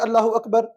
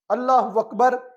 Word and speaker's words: اللہ اکبر: اللہ اکبر، اللہ اکبر، اللہ بھی ادا ہو، اکبر بھی ادا ہو۔ اللہ اکبر، اللہ اکبر یہ کوئی لفظ نہیں ہے، یہ نماز کو باطل کرنے کے لیے ہی جملہ کافی ہو سکتا ہے۔ تلفظ کو واضح کیا جائے اللہ اکبر، اور اس پہ دقت کرنی چاہیے۔ ہمیں اپنی نماز کی